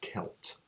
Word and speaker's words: Celt: if you want that selt for me um I learned in in Phonics that when C is followed by e or Y it sounds like an S okay so it SS